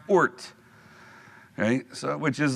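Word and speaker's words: Oort: It is pronounced ORT, okay?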